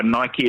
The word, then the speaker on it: Nike: So, anyways, you were referring to that about Nike. Yes, yeah, that is how it's pronounced. Let me just clarify. Nike is how it should be pronounced.